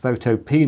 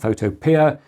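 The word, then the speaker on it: Photopea: and the other thing I've logged into is photop and yes it's pronounced photop not photopia the Fantastic online version of Photoshop this I'm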